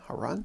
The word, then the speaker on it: Haroun: search for heroin how run that's how you pronounce that uh and then just